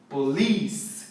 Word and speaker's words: police: tônica sílaba tônica mentiras sílaba tônica é lee police igual polícia em português aliás essa é uma